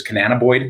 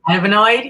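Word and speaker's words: cannabinoid: Canananaboid, is that how you say it? Canabonoid.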